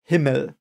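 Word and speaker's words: Himmel: forward word himl it's I think it's almost uh pronounced the way you would think it is I think the e in the end that it is an e is a bit weird perhaps for you but it is pronounced himl so uh there you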